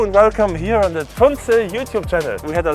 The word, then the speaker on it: Tunze: And as Roger just said, it's Miele, Porsche, Tunze. But I'm used to pronounce my name Tunze somehow. So in most of the videos I will do it wrong, but actually it's Tunze.